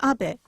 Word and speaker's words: Abe: My name is Abe, but in the United States, some people mistakenly pronounce my name as Abe, but that is not